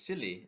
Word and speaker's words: Scilly: It's silly. It's like silly.